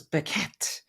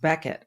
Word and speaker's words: Bequette: you see his name You' think it was Becket but it's pronounced Becket I'll ask him why that is you may